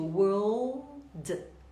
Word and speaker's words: world: Então, eu digo world, world. Para o britânico, basta alongar o O, world. E o L é bem pronunciado, você tem que colocar a sua língua lá no céu da boca.